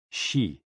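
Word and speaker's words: xi: with the spleen and x-i pronounced like she which connects the whole body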